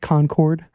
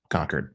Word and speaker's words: Concord: uh called me out uh what i said concord yeah that's a common uh mispronunciation i mean there are people who live in like neighboring states who mispronounce conquered by concords okay well now i know easy